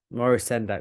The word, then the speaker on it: Maurice Sendak: Maurice Sendak. That's it. I don't never know if I can pronounce it right.